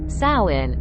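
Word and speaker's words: Samhain: a key aspect of the history of Halloween sawin pronounced as sain or sa W is a Gaelic Festival that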